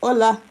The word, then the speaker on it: hola: And I know the H is silent. Hola.